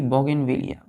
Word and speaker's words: Bougainvillea: फिर दूसरा हम बोलते हैं बच्चों जैसे कि बोगेनविलिया, BOUGAINVILLEA, बोगेनविलिया, है ना।